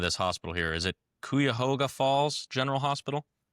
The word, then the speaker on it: Cuyahoga: And forgive me if I butcher the name of this hospital here. Is it Cuyahoga Falls General Hospital? Cuyahoga.